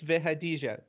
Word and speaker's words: Vehadija: And you almost got it right. It's Vehadija. Okay. So 4 syllables.